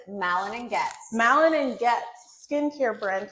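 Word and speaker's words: Malin+Goetz: I can tell you how to say the name. Period. Tell us. It is Malin and Goetz.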